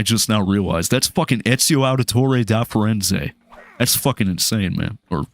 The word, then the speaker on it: Ezio Auditore da Firenze: No, but if you want to say it the Italian way, though, Ezio Auditore da Firenze. That's how you say it properly, baby.